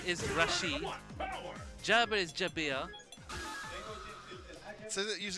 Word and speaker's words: Rashid: So, like, if it really is Rashid, I would spell it R-A-S-H-E-E-D. Yeah, Rashid.